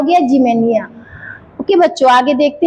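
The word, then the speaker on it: Ximenia: जिमेनिया।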